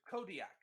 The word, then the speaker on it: Kodiak: How do you spell it? No, it's a Kodiak.